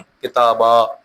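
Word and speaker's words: كتاباً: اس کی وجہ یہ ہے کہ وقف کی حالت میں اسے الف مدہ کی صورت میں تلفظ کرنا چاہیے، جیسے کتابن، کتابا۔ وقف کریں گے تو کتابا کیسے پڑھیں گے؟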